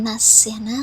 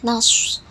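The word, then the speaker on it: نصر: Izrail Jeng anasrullah hiwalfat Ini bacanya nafsu bukan nasional karena ini huruf shod ini namanya huruf shod sukun jadi bacanya Naswa Naswa Naswa llah hiwalfat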